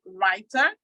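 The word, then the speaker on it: Rytr: Okay, there's also the one that's called Writer. It's spelled R-O-Y-T-R for writer instead of W-R-I-T-E-R.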